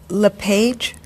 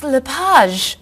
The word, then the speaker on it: Lapage: just a few minutes is your last name pronounced LePage it's Lapage actually oh that's beautiful thank you now is it MS Lapage or mrs.